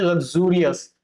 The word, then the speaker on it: luxurious: लेकिन अगर इसी वर्ड को इस तरीके से इसका एडजेक्टिव बना दिया जाए तो इसको प्रोनाउंस किया जाता है लग्जूरियस, लग्जूरियस। तो ये जो वर्ड है RIOUS वाला, इसका प्रोनाउंसिएशन हो जाएगा लग्जूरियस, लग्जूरियस।